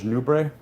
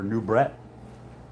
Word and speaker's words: Nubret: Now, looking at Serge Nubé or Nubret as it's spelled, um, it seemed like he might have had his hands on some equipoise, right?